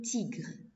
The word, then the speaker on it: tigres: Notez bien la lettre S à la fin de mot, on ne le prononce pas.